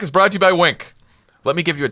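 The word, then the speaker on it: Winc: first ask Tommy and then I'd go to wink wink makes it easy to discover great Wein it's spelled wi n c hmm because Winx wine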